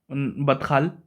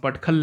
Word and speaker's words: Badkhal: Batkal, Badkhal, I think it's pronounced Badkhal lake, has been dried up.